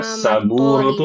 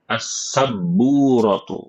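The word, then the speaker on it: السبورة: Saburatu salah. Ada yang kurang. Assaburatu yang benar. Assabburatu bnya bertasydid.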